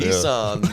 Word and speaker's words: Nissan: And how you would pronounce Nissan. Nissan, apparently, well, to Americans, they Nissan. Yeah, Nissan, Nissan, you know. But Nissan is how we say it in Australia.